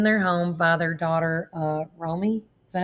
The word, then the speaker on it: Romy: Now, Rob and Michelle Reiner were found in their home by their daughter, Romy. Is that how they say it? Yeah. Romy.